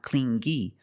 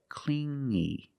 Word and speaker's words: clingy: You hear the sound m only the nasal sound here. No G, not clingy, but clingy. Clingy.